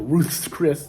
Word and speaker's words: Ruth's Chris: want to sit online pronouncing it Ruth's Chris that's what it's called it's like Ruth's Steakhouse